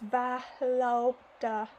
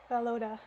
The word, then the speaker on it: Volodya: Oh, they're telling me here in the footnotes how to pronounce his name. It's Valoda. Valoda.